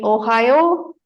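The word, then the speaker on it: おはよう: know good morning right Ohio goai Mas so the short version is Ohio oh right O and U is there right but we will pronounce it as o Ohio goas is like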